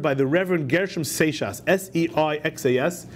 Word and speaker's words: Seixas: Tomorrow will be published and sold at the printing house a discourse delivered by the Reverend Gershom Seixas, S-E-I-X-A-S, is pronounced Seixas, of the Jewish synagogue.